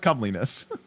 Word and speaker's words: comeliness: And it is that is comeliness, which is of course a real word, but it is a funny word to use because it was abbreviated, you know, come or calm, but it's pronounced cumliness.